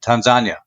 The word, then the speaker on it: Tanzania: all these witnesses that in Swahili we pronounce it Tanzania.